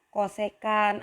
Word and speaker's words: csc: Jadi kalau sinus kebalikannya kosekan atau ditulis CSC, bacanya kosek gitu boleh.